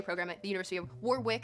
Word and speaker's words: Warwick: at the University of Warwick. I'm going to keep saying it like that because why would you forget there's an extra W in there?